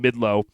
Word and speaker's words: Midlothian: I flew to Dallas, got in a rental car, drove to Midlow, which is technically Midlothian, I think is how you say it, but the locals call it Midlow.